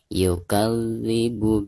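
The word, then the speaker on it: يُكَذِّبُ: Yukal, dari kaf ke zal itu ada tekanan karena huruf zal itu adalah huruf musyaddad ya, atau huruf yang bertasydid. Maka cara membacanya itu harus ditekankan ya. Yukadzibu biddin.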